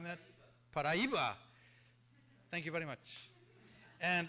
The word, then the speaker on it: Paraíba: Am I pronouncing that? Paraíba.